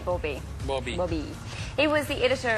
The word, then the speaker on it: Bauby: Jean-Dominique Barbie. Yeah, although you made that sound like it was 2 words, last word. Jean-Dominique Bauby.